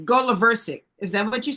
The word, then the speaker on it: Goloversic: The accent is on the go. Right, Goloversic.